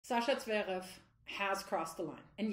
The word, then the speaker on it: Zverev: Sasha Zverev has crossed the line. And yes, I am actually pronouncing his name the way that it should be pronounced because I am from Germany.